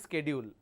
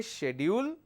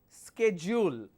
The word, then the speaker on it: schedule: half of this, and this is our Indian pronunciation, which is schedule. This is incorrect. Either you say schedule or you say schedule, but never say schedule. That's an incorrect pronunciation.